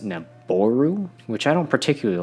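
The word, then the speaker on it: Nabooru: actually a garad of woman in here named naburu which I just learned is pronounced naboru which I don't particularly like as much but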